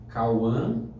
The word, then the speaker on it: Kauhan: Para quem estiver assistindo, o meu Instagram é Cauã procura lá, Cauã. O meu nome se escreve Kauhan. Minha mãe foi um pouquinho Eu te entendo. criativa nisso, mas é só colocar lá, Cauã.